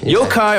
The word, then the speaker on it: yokai: demon or an imp in Japanese folklore him yokai aura gets that wrong nothing wrong it's pronounced yaki it's pronounced iake ducky you okay